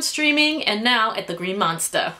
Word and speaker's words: Green Monster: and now at the green monster like like James said and you have to say it like that if you pronounce the r they kick you out of the the ballpark the ballpark they'll kick